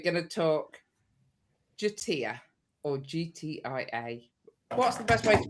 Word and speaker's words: GTIA: Yeah, that is the official pronunciation for it. We got told off for calling it Gitia. But it's an inefficient pronunciation of it. Tomato, tomato. Yeah. No right answer. Well, there is, apparently. There's an official way, which is GTIA.